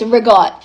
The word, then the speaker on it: ricotta: The same thing applies to ricotta cheese. No, that's not how you say it. It's rigot.